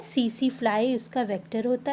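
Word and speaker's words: tsetse: okay, तो ये जब किसी ग्लॉसिना पैलिस या सीसी फ्लाई में, इसका टीएसी इसको सीसी प्रोनाउंसिएट करते हैं, ट्रिपैनोसोमा इसमें इन्फेक्ट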